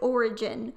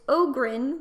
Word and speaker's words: Ogrin: origin in my head I always think it's like origin or like organ with an eye but it's Agron which is an ugly name